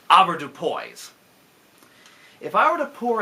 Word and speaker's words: avoirdupois: It's a French word, but darn it, we're Americans, so we're going to pronounce it avoirdupois.